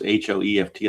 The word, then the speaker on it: Hoeft: Whitey Ford against, I think his name's pronounced Billy Hoeft. I think it's, even though it's Hoeft, I think it's still pronounced Heft, but don't quote me on it.